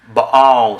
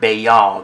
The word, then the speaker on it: Baal: Baal, sir, not Baal. There's no Y sound.